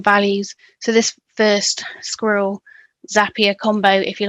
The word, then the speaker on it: Zapier: Um and the the team at Zapia have a tagline something like Zappia makes you happier. Um, it's a quite a bold claim and I think mostly intended to help you remember how it should be said or pronounced. I've had to retrain my brain as I called it Zapia for the first I